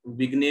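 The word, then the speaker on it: Vigne: Time किसी European visitor, इनका नाम था मिस्टर वाइने, इसको आप अपनी सहूलियत के लिए मिस्टर विग्ने भी बोल सकते हैं, राइट, अदरवाइज प्रोनाउंसिएशन के हिसाब से ये वाइने ही प्रोनाउंस होना चाहिए लेकिन इसे विग्ने भी प्रोनाउंस किया जाता है, राइट।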